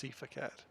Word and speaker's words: SeiferKatt: Which is what a lot of people think it's pronounced, but it's SeiferKatt.